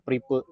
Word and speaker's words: Prive: Ini kalau nggak salah istilahnya Pripe, bukan Prive, karena bukan bahasa Inggris kalau nggak salah. Belanda gitu. Ya. Jadi bacanya Pripe.